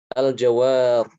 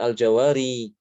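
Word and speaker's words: الجوار: Ketika berhenti pada kata ini, yang saya garis bawahi, al-jawar, bukan al-jawari, tapi al-jawar.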